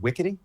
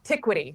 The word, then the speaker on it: Tiquity: Wait, is it pronounced Wickety? No, Tiquity.